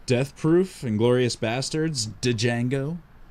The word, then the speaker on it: Django: Death Proof, Inglourious Bastards, Django. Django. I've seen one of them. Right. Which one? The D You know is what the others silent. are all about, though, right? The D is silent.